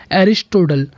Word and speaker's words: Aristotle: इनका नाम का इंग्लिश प्रोनाउंसिएशन है एरिस्टोटल।